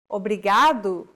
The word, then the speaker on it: obrigado: here in lesson two don't pronounce it like an English R don't roll your tongue listen to how Anna is pronouncing this sound ready think of the quick tapping motion your tongue makes as it strikes the top gum Ridge in words like ladder or butter all together it's okay